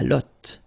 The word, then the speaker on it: lotte: And then la lotte. Final E, not pronounced. Lotte. T-t-t.